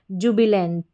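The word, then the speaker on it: jubilant: JU जू, BIB LANT lent, जुबिलेंट, जुबिलेंट। यहाँ पर अभी आप जितने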